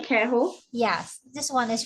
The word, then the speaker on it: queijo: So pão de J, queijo, yes, this one is pronounced as ho.